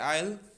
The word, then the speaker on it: aisle: एक तरफ सीट्स हैं, दूसरी तरफ सीट्स हैं, बीच में जो रास्ता होता है जाने का उसे हम कहते हैं आयल. एस is silent.